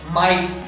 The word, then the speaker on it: might: Silent word rule number 5, जब भी GH किसी वर्ड के बीच में आता है तब हम उसे नहीं पढ़ते हैं। जैसे माइट, MIGHT, यहाँ GH किसी वर्ड के बीच में आ रहा है इसीलिए हम GH को नहीं पढ़ेंगे, ये साइलेंट होता है, इसे हम पढ़ते हैं माइट।